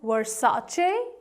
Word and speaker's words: Versace: Fortunately, I had a chance to window shop from this one, and yes, it is called as Versace. Versace. Versace. Versace is the correct pronunciation of this brand.